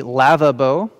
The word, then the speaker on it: lavabo: you will hold the lava bow sounds like lava bowl this is not a